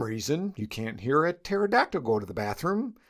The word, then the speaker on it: pterodactyl: For the same reason, you can't hear a pterodactyl go to the bathroom, because the P is silent.